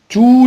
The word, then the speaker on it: tous: On peut remplacer le mot tous les enfants par tout seulement.